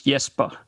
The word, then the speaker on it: Jesper: Well, in Danish it is Jesper.